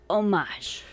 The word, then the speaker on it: homage: like the prequel trilogy what the ancient homage is silent it's homage and let me enjoy my herbal tea [